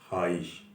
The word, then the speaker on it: خواہش: ہے۔ تو ایسے الفاظ خے واو الف جہاں ساتھ مل کے شروع ہوتا ہے، وہ خے الف کی آواز دیتا ہے تلفظ میں، وہاں واو سائلنٹ ہو جاتا ہے۔ جیسا کہ میں نے ابھی عرض کیا، خواب کا صحیح تلفظ ہے خواب، خواہش کا صحیح تلفظ ہے خواہش۔ تو وہ لوگ جو